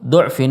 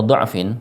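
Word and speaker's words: ضعف: Kemudian dalam ayat ini di surat Ar-Rum, lafal du'fin atau du'fin terulang 3 kali. Maka cara bacanya harus sama. Ketika di awal kita membaca du'fin, maka ketiga lafal tersebut harus dibaca fathah semua. Kalau du'fin pertamanya kita baca dhammah, maka du'fin yang kedua dan ketiga harus dibaca sama.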